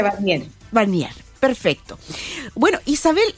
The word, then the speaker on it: Warnier: apellido bien está bien se pronuncia barnier barnier Perfecto Bueno Isabel